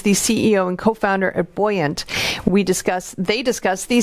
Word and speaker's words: Buoyant: william of course is the ceo of it's buoyant right it's how you pronounce it yeah yeah and then and uh